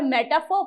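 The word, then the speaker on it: metaphor: दूसरा हमारा क्या है मेटाफर जब इसे पढ़ते हैं जब इसका प्रोनंसिएशन होता है तो आर साइलेंट होता है मेटाफर पढ़ते हैं इसको राइट एन इंप्लाइज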